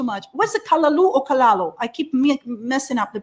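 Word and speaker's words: callaloo: Yes, it's one of the reasons I love kalalu so much. What's it, kalalu or kalalo? I keep messing up the pronunciation.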